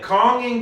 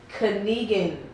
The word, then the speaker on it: Konigin: it is uh oh i've been saying calming cuts a lot right right so everybody give me the breakdown about that i've been saying it wrong and i knew i was saying it wrong and now just give me the history in the background about that because i don't know everybody's been saying that wrong it's it's it's canadian cuts which is in german